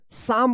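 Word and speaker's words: psalm: फिलहाल हम लोग देखेंगे यहां पे एल साइलेंट तो यहां पे दो वर्ड्स साइलेंट आ गया है पी और एल तो क्या पढ़ेंगे इसको साम पढ़ेंगे साम ठीक है इसको ध्यान रखिएगा अगर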